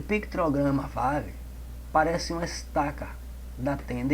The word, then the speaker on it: Vav: Pronuncia-se Vav. E tem um som de V, como videira, né?